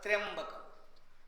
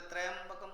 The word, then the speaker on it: त्र्यंबकम: त्रि प्लस अंबकम, तो त्रि ई और अय होता है, तो त्र्यंबकम। फिर स्वामी जी इतना भूल क्यों कर रहा है सारा वर्ल्ड? क्योंकि त्रय उच्चारण जल्दी होता ही नहीं है, त्रय इजी हो जाता है, समझ में? इसलिए त्रयंबकम कर देते हैं। रियल क्या होता है? त्र्यंबकम।